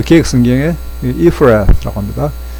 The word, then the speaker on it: Ephrath: 우리 그 개혁 성경에 Ephrath라고 합니다. 이 F 발음 요거 있잖아요. 참고하시고 if 그 다음에 Ephrath 이렇게 발음하시면 되는데 또는 Ephrath 라로 이렇게 해도 Ephrath TH가 뭐 씌었다는 것이 애매하지 그죠?